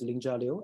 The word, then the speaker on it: Lingjia Liu: again my name is Ling jalio and for those of you who can pronounce you can see and for those people who cannot pronounce it very well we can sing about ninja with l so I'm currently serving